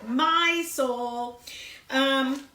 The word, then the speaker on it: Mysol: here cuz it says it rhymes with mice all that famous cleaning product you use but I can't say the word so I'll just call it my soul what I have in